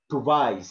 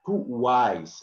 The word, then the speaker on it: twice: So it is now, it is not pronounced like V. For example, a lot of Turkish people, they have this kind of problem pronunciation, for example. We don't say twice, it's not twice, but twice, okay? W here is emphasis.